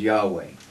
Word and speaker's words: Yahweh: well the thing is in ancient hebrew they didn't use vowels the vowels were just known right so um the the typically accepted theologically pronunciation of the name is yahweh right and moses would